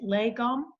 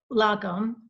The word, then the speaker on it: lagom: It's the same with anything, I guess, and a lot of things like, how do you pronounce it? Lagom, this Swedish. Lagom.